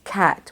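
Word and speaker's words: qat: Scrabble word and stretch the next word is cat which is spelled q-a-t these are the leaves of an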